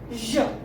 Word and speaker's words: je: We pronounce it je.